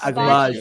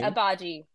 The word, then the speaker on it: Agbaji: Oh, so no, the G is not the G is not pronounced. I have a clip for everybody. Ochai Agbaji. I have a clip for everybody. So it's not Agbaji. Abaji.